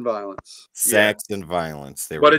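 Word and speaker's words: Violens: Saxon Violence. Saxon Violence. There but we go. But it's spelled S-A-C-H-S.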